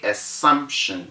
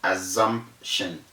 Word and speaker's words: assumption: s's are two and we say assumption not assumption take note of that to assumption it is not assumption because the s's are true and that word is